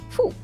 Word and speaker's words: fou: O, U give us who, like in food. Example, fou, which means crazy. Example, fou.